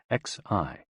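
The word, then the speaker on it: 嘻: Hoo, pronounced like hu, which is associated with the spleen, and Xi, pronounced like shi, which connects the whole body.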